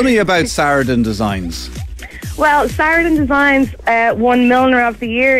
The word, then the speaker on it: Saraden Designs: Sarah, am I pronouncing it correctly? Saraden Designs? It is, it's Saraden Designs.